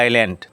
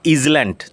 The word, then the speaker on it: island: আইল্যান্ড উচ্চারণ লক্ষ্য করো, এস সাইল্যান্ড, ISLAND, নট ইজল্যান্ড, উচ্চারণ আইল্যান্ড। জলবেষ্টিত ভূভাগ, এ ল্যান্ড surrounded by water, চারদিকে জলবেষ্টিত ভূভাগ এরকম ভূখণ্ডকে আইল্যান্ড বলা হয়।